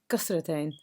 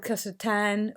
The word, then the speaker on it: kasratain: Today we will be looking exclusively at Kasratain. I have said Kasratain or Kasratain. They're both two different versions of the same thing.